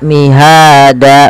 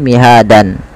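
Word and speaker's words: مهادا: Ketika ada dan di akhir bacaan itu dirubah menjadi panjang danya. Maka mihada, bukan lagi mihadan.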